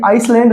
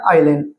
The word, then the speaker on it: island: देखिए ISLAND, तो यहाँ पे आइसलैंड नहीं है, ये क्या बोला जाएगा, आइलैंड।